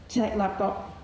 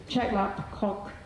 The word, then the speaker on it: Chek Lap Kok: Similarly, Hong Kong's world-class airport is at Chek Lap Kok Chek Lap Kok in English.